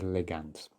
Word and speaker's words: ligands: which denotes the ligands sorry i did pronounce it wrong last time it is ligands alternatively for this first